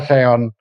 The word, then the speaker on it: Xeon: Nah, yang pertama dikatakan bahwa kata seon ini berasal dari bahasa Yunani yang pelafalannya adalah seon pakai Z ya sini.